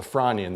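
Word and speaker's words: Frasnian: period known as the Franian. The S is silent of 382 or so million years old.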